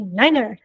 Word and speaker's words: niner: my other pet PE if you say the number nine and you just say nine no it's actually Niner is the number or five is five